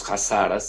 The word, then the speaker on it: Hazaras: tiene una minoría importante que se llaman los jaras se escribe con h y con z hazaras que son chitas y han